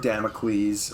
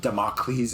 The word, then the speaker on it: Damocles: No more Sword of Damocles, or Damocles as the guy pronounces it.